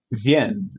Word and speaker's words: Wien: In German, though, if it's written with a W, it should be Wien, right? I listened to the whatever was on YouTube. How do you pronounce Vienna? And it sounded like Wien, or something like that.